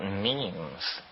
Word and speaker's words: meme: last year about about memes. You know what memes are? Memes are the smallest units of a concept. And they're like genes. The word is deliberately constructed to to rhyme with gene.